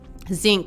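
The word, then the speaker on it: Zinque: good damn was the place called again zinc it's spelled z-i-n-q-u-e okay and um add it to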